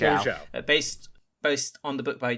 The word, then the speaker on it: Zhao: Nomadland, written by Chloe Zhao and Chloe Zhao, is that pronunciation? Zhao.